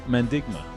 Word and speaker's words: Mandigma: capital and who we're talking about is mendigma now did i say that properly yeah yeah